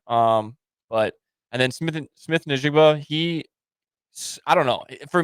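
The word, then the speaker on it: Smith-Njigba: Jon Smith how do you say his name Smith nigba yep okay yeah it's it's it's interesting because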